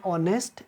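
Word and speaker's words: honest: an elephant एटस right फिर आपको जहां पर एच साइलेंट होता है वहां पर एन का इस्तेमाल यूज करना होता है जैसे एन एयर एन ऑनेस्ट एन ऑनेस्टी okay and honorary इस तरह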